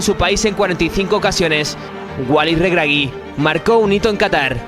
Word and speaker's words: Walid Regragui: ¿Cómo lo pronuncio? Sí, bien, Walid Regragui.